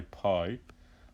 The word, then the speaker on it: pi: It's pronounced pi, and if we wanted to spell it in the English alphabet, we spell it P-I.